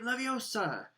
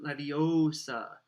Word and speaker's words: Leviosa: more luck when guardian leviosa shout he shouted waving his long arms like a windmill you're saying it wrong harry heard her money snap it's when guardian leviosa make the guard nice and long you'd do it then